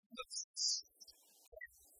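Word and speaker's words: θλῖψις: You pronounce that as lipsis.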